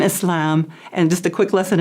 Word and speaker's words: Islam: the partisan yeah so a Muslim not a Muslim or we have some a different pronunciations but the most correct is Islam and Muslim Muslim yeah we're and now